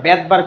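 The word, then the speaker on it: Svedberg: সবেদ বার্গ কি বার কিন্তু আসলে সবেদ উচ্চারণ করি না আমরা বেদবার্গ উচ্চারণ করি কি বলি বেদবার্গ আর যাই হোক বিজ্ঞানীর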